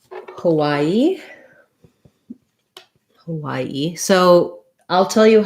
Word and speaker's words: Hawaii: on where you are most of the us is going to say hawaii which is sounds like y a middle syllable stress hawaii hawaii this is